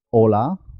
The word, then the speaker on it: hola: con otras palabras como hola, saludo, y ola del mar. Hola se escribe con H. Hola se escribe sin H. Las dos suenan igual.